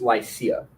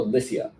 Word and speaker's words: Lycia: And K down on the coast, Lycia. Or Lycia, depending on how you want to emphasize the syllables.